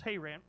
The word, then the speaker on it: Haran: the karen i'm not sure how the greek pronounces that but it's haran and said unto him get thee out of